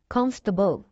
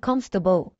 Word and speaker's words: comfortable: Les prononcer comfortable. Ok, comfortable. Ou elle là. Pas prononcer. C'est ça que Kelvin. Comfortable.